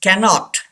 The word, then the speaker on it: cannot: Yes, cannot.